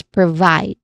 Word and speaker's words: provide: Then second syllable is vide, which has a clear I diphthong sound. It rhymes with side, so this is the stressed syllable, so we say it as provide.